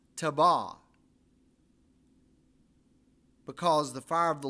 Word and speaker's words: Taberah: Now, if you look at it, it looks like it's Taberah. It's pronounced Tabah, because the fire of the Lord burned among them.